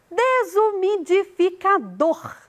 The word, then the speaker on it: desumidificador: Desumidificador. O dor é a sílaba tônica.